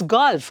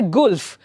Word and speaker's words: golf: For example, golf ಅಂತ ಹೇಳುವಾಗ that's golf. You don't say gulf.